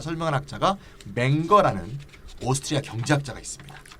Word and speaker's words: Menger: 그러면 이 문제를 맹거는 어떻게 해결했느냐? 선생님 저 발음 좀 잘해주세요.